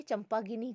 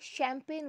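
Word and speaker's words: champagne: अब जिस व्यक्ति को इसका प्रोनाउंसिएशन नहीं पता वो क्या पढ़ेगा इसे, CHAMPA चंपा, GENE जीनी या गिनी. तो आप तो क्या सोचेंगे चंपा गिनी क्या है, जबकि ये चंपा गिनी नहीं है, ये शैम्पेन वर्ड की स्पेलिंग है. तो यहाँ पे हम CH में देख रहे हैं श साउंड आ रहा है.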